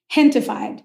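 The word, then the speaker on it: Gentefied: Hentified. So it's a play on gentrified, but gente is the word in Spanish for people.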